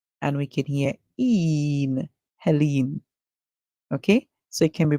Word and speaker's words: Helene: However, it can also be pronounced as hell. So we can hear the E and the L going together. So we can hear and e, l, hell, and we can hear in, Helene.